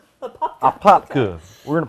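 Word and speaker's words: Apopka: Springs AA right okay a popka and you got to say it right go a popka a popka a popka we're in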